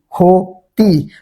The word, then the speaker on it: ক্ষতি: এখন ক্ষীয় যদি শব্দের প্রথমে থাকে তাহলে তার উচ্চারণ কে হবে? উচ্চারণ হবে হচ্ছে ক্ষয়ের মতো। তাই এখানে হবে কি? ক্ষতি।